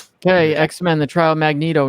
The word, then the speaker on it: Magneto: Okay, X-Men: The Trial of Magneto #2, or as some people say, Magneto. Which I always wondered back in the day if they called him Magneto, because if you were really trying to pronounce it phonetically, I think that's probably what you would have said back in the day. I know people from who back then call him Magneto, but it's Magneto. You're wrong.